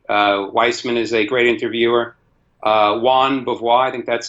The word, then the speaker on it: Jean Beauvoir: Juan Beauvoir, I think that's how you pronounce his name. Jean Beauvoir.